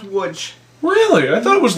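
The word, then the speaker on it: Łódź: Polish girl that I knew from wood which is spelled Lots but wait how's it pronounced l o TZ is pronounced wood really I thought it was lots no it's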